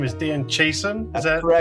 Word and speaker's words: Dan Chiasson: I'm going to try and pronounce your name is Dan Chason.